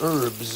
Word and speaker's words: herbs: some spice and herbs. The H is silent, you know.